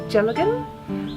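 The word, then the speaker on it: dealgan: Now this is, I'm told it's pronounced as a Gelatin, which is a Scottish spindle.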